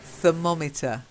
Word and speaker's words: thermometer: next one thermometer yep thermometer so it's an O sound meter thermometer try again someone to monitor